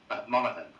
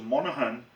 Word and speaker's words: Monaghan: How do you pronounce that? Monaghan. So Monaghan, that is the name of my sister's earliest